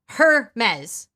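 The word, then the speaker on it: Hermès: mispronouncing Hermes it's brilliant I don't think you're supposed to say the H heres Hermes no I don't I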